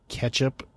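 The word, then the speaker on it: Ketchapp: by a company called catch app like ketchup only ke t c h a p p get it anyway they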